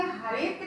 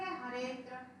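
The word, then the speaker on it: हरेऽत्र: यहाँ उच्चारण के समय हरेत्र ही कहा जाता है। अवग्रह का उच्चारण यहाँ नहीं होगा, हम क्या बोलेंगे हरेत्र। ये हम ये अलग से अवग्रह नहीं बोलेंगे, है ना।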